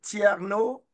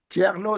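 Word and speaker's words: Thierno: Et aussi notre recteur de l'université, le professeur Tierno Thiam. Tierno, c'est T-H-I-E-R-N-O.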